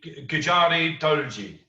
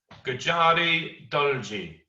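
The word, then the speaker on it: Gujari Dolgi: belts in quebec okay so it's not called todo it's called gujarati doji okay miss bryant you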